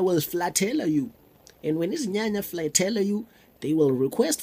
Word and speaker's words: Izinyanya: It's pronounced as easy. Nya, nya, easy, nya, nya.